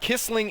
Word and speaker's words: Kissling: Kissling is the pron the uh correct pronunciation.